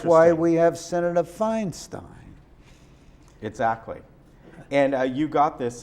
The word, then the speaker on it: Feinstein: But EI, as in my name, is pronounced I.